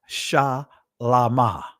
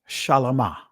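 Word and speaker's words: שלמה: And his name is pronounced Shalama. Shalama.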